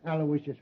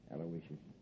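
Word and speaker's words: Aloysius: Terrence Alawishious Hogan.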